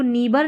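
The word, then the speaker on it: neighbour: नेबर तो यहां पर इसको नेबर नहीं पढ़ रहे हैं।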